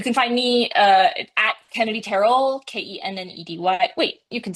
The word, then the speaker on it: Tarrell: You know, it's really funny that you say that because it is technically Terrell, but Kennedy Terrell sounds like it just rolls off the tongue.